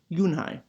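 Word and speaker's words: Unhei: I corrected it spelled you and hei it's pronounced you and I oh it's you hey a voice the boy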